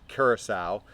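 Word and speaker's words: Curaçao: And I actually had to look at how to pronounce this, but it's orange Curacao. So orange Curacao, also 1 ounce.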